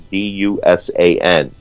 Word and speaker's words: Dusan: But came up short in my high school and college years, because it's spelled just as it sounds, Dusan.